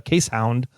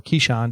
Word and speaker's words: Keeshond: purebred, almost show quality dog that's a case hound, or Keeshond is how the Americans like to pronounce it.